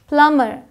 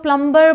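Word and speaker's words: plumber: है ये डेट है प्लमर आधे से ज्यादा इंडिया कह सकते हैं 99 पर लोग प्लंबर बोलते हैं बट यह क्या है प्लमर प्लमर यहां आते हैं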